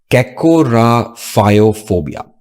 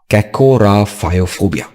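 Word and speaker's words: kakorrhaphiophobia: It is pronounced as Kakorophoia. Kakorophoia.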